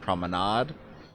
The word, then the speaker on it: Promenade: the basis for project Promenade which I know is also sometimes pronounced prominade uh and the results